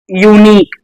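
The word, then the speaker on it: unique: इसको हिंदी लिख लो यूनिक तो पहला लेटर क्या आया या या किसको रिप्रेजेंट करेगा वाई वाई क्या हैने और इसको सेमी वोल भी कहते हैं हा ठीक है तो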